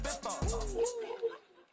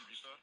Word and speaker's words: Ibiza: I just went to Spain, that's a biffa. Ibiza. Yeah, it's pronounced Ibiza, actually.